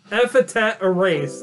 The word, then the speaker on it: Epithet Erased: Epithet Erased. That's how you pronounce it.